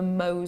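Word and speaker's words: Mohs: number 10 on the mo scale MO is spelled m o HS if you've never heard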